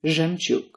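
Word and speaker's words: жемчуг: A zh and a ye together, for instance, do not turn into zhe. They turn into zhe, as in zhemchuk.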